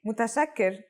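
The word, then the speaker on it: متشكر: you want to thank someone more casually say mutasakir if you're a man and with a shakira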